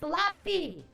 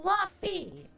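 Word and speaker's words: Laufey: It's Lafi. It's pronounced Lafi. Okay. So, whatever. God of War Lafi comes out.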